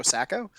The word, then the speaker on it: Sacco: played for the kitchener joe flacco rhymes with joe flacco uh we should argue